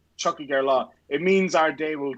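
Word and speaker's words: Tiocfaidh ár lá: Oh, is there a CH sound at the beginning of that? Yeah, Chuck and then Hig. Chucky Gerlaw.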